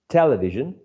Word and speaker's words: television: you so much excellent the word television is stressed on the first syllable exactly television uh television television no